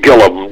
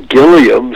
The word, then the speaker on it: Gilliam: My family name is Gillum. But when I went to Hollywood, my first agent said, Burton Gillum just doesn't sound right. Burton Gilliam sounds real good. Okay. And so I changed the pronunciation of it. It's spelled the same way.